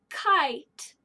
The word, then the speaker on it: kite: This E can only reach over one letter. It is silent. So that's my, like a finger, shh, telling the E to be quiet. K-I-T. K-I-T. Kite. Kite. Here's our word kite. If I took off the E, then it wouldn't be a long I anymore.